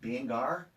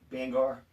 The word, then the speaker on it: Bangor: Is it Bangor? Bangor. Bangor. Yeah. What do I say, Bangor? Oh, I say Bangor. Banger. Like I'm banging.